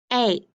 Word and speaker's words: ache: The E is marked off and then the A is long. Ache, because I don't hear that E at all.